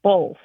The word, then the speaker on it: both: or or both and it seems like there's an L that gets added to it so it's pronounced both around here so I